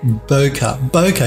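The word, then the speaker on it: bokeh: footage now Johan says I think it's pronounced Boca Boca you are exactly right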